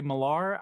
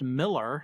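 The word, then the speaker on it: Millar: that it is pronounced Miller, so it it more like Miller, but the A has more of an E sound.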